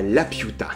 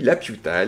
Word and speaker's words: Laputa: Dans son troisième grand voyage, Gulliver s'arrête à Laputa. Attention à bien la prononcer. Mais oui, Laputa, l'île du château dans le ciel de Miyazaki.